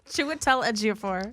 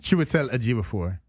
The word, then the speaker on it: Chiwetel Ejiofor: Chiwetel Ejiofor. Chiwetel Ejiofor.